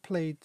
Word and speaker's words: played: is when we have played in the past. But in this one, it's not pronounced ed, it's just simply pronounced d.